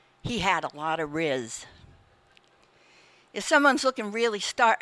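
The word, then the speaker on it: rizz: the word is Riz and I'm going to spell it R i ZZ she didn't spell it but it's Riz and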